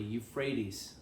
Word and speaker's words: Euphrates: Yes, Abram, saying, To your descendants, thus I give this land from the river of Egypt to the great river Euphrates. Say it properly, Euphrates.